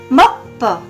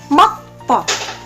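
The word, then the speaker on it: 목포: Nah, karena ada patjim giok tadi, maka apa? Biopnya berubah menjadi sang biop atau double biop ya. Nah, jadi kalau menjadi dua, sang biop bacanya P, dibaca P. Tapi kalau biop satu saja itu dibaca B, tapi kalau kembar dibaca P. Jadi mokbo menjadi mokpo. Nah, mokpo.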